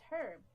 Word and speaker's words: herb: at identifying plants but herb is is a type of is a type of plant and you don't pronounce the H normally but if you pronounce it says herb and then Herbert is